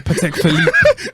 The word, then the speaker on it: Patek Philippe: for Patek Philippe.